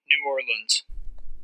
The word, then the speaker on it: New Orleans: Nolans? No, I am far too northern to say that last one. But what's the right way to say the name of this city? New Orleans. Ah, okay. Thanks, pronunciation book.